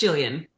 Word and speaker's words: Jillian: I have a master's in Pacific Island Studies in the same program that, is it Jillian or Gillian? I'm so sorry if I'm pronouncing your name wrong. Jillian. It's Jillian.